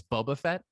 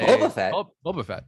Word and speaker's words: Boba Fett: Like, I just mean she really put the emphasis on that first syllable in the way that we've often mocked, like the way they, like when they say Boba Fett, Boba Fett. For some reason, it gets said that way sometimes, and it always stands